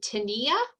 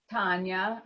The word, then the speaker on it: Tanya: Is it Tania? It's Tanya. I'm okay, Tanya. it is Tanya. Sorry. It's spelled weird.